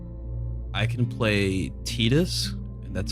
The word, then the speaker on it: Tidus: I can play Tidus, and that's how you pronounce his name, which is going to put another counter on this.